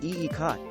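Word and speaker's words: ikat: try it in your contemporary or eclectic room pronounced eecot this material is not so much a pattern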